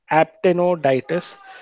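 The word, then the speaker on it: Aptenodytes: then the penguin so aptenoditis atenoditis where p is silent antenna diet is penguin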